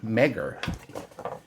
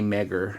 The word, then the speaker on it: MEGIR: but no it's a mega Mega meager I don't know I'm gonna say mega because I think meager makes it sound like it's meager so a lot of